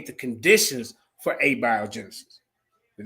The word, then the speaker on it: abiogenesis: She was calling abioenesis. Yeah, I heard it. I don't know. Abiogenesis.